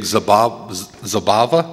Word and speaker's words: Zabava: This weekend is the big Zabava? Yeah, you said it right.